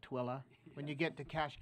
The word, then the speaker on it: Tooele: And if you've already learned Hurricane, and I know Tooele County, you've already learned it's not Tule, but Tooele.